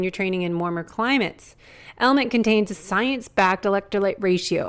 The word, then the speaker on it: LMNT: sponsors lmnt element it's spelled l MNT but pronounced element if you haven't heard about this element is